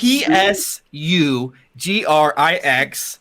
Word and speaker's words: Sugrix: how that works um it is sucrix zelen theory s u g r i x don't spell it because that doesn't help me s-o-o sugrix sue grix zelen the dwarf glitch